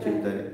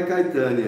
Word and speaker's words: Chaitanya: Então não é Caetânia, né? Nem é Kainan.